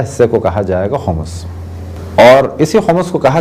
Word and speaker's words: خمس: الطاہرین۔ موضوع گفتگو خمس۔ عام طور پہ خمس کہا جاتا ہے، لیکن جو صحیح تلفظ ہے وہ ہے خمس۔ اگر کسی چیز کو